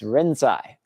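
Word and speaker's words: Rinzai: And incidentally, you might not have heard of the um 9th century Chinese Zen master Lingi, but maybe you have heard the Japanese pronunciation of his name, which is Renzai.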